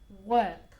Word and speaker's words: work: Be careful with the pronunciation of work. Okay, trabajo. Work. Okay, you don't pronounce the R and it's as if it had an E.